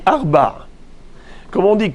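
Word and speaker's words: ארבע: Alors il faut savoir qu'en hébreu, le chiffre 4 ne se prononce pas de la même façon lorsqu'il s'agit du féminin ou du masculin. Comment on dit 4 pour le féminin? On dit Arba.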